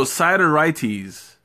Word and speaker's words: Sideritis: I forgot how you pronounced it. Sideritis or side? No, Sideritis.